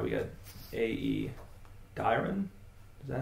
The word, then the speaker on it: Dairon: Yeah, it should be Dairon the minstrel.